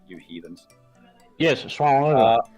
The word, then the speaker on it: Suomenlinna: I was raving on about the word Suomenlinna not being that difficult to pronounce. You heathens. Yes, Suomenlinna. Suomenlinga.